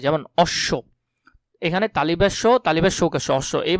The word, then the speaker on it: অশ্ব: শব্দের মধ্যে বা শেষে বফলা যুক্ত হলে সেটা দ্বিত্ব মানে ডাবল উচ্চারণ হয়, যেমন অশ্ব, এখানে তালিবেশ্য অশ্ব, এই বানানটা খুবই গুরুত্বপূর্ণ, ভালো করে দেখবে।